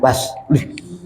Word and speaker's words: bus: Dibaca bus, salah. Bacanya bas.